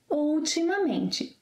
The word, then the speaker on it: ultimamente: Lately means ultimamente. Ultimamente. Five syllables. Ultimamente.